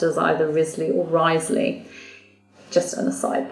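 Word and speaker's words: Wriothesley: with the W but he is actually it's pronounced as either Risley or wisely just an aside that because I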